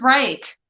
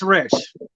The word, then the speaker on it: Rych: Yeah, Rich? I thought it was Reich this whole time.